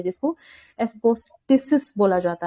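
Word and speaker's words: asbestos: Fourth हमारा है एस्बिस्टोस, ये कहाँ पे मिलेगा? किसी को प्रोनाउंसिएशन पता हो तो इसकी प्लीज सब बता दो। एस्बेस्टस एस्बेस्टस, okay.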